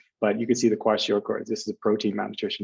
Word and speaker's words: kwashiorkor: Bonus points if you say it correctly. Kwashiorkor? Kwashiorkors. Kwashiorkor. Very good.